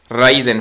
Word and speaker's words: Raiden: Another shoot 'em up, Raiden 4, that's how you pronounce this.